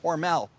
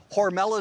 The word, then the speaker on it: Hormel: know what you're thinking John mispronounced Hormel no Hormel is the company Hormel is the family it was changed by the marketing department because they thought Hormel sounded too German it was back in